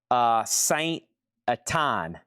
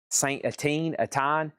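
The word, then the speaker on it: Saint-Étienne: This is Scream for Me, Saint Atine. Saint Atine. And this is unofficial, part 1, $45 start. Live in Paris, 2000. Well, live in Saint, I think that's pronounced Etine.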